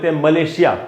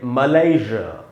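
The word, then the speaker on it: Malaysia: बड़ा डिफरेंस है कि ब्रिटिश में जो ज बोल रहा हूँ मैं, वो जेड वाला ज है, या एस से जो ज बनता है, मलेशिया ज। लेकिन ये जो नीचे वाला ज है, मलय, इसमें जो ज का साउंड है वो वही है जो प्लेजर में होता है, इट्स माई प्लेजर।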